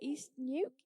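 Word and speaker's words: East Neuk: now up in east How do you say it? East Nuke East Nuke Nuke Market Garden.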